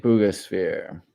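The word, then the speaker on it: Buga sphere: Booga sphere.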